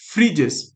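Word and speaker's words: Phryges: mascot का नाम था फ्रीजेस अब ये पी एच आर वाई जी ई एस ये लिखा हुआ है फ्रीजस ये फ्रेंच में है तो इसको प्रोनाउंस ऐसे करते हैं फ्रीजस जैसे मैंने यहां लिखा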